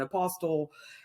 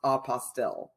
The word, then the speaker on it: apostille: not tend to refer to it as an apostle it is uh pronounced apostille but again tomato tomato so what is a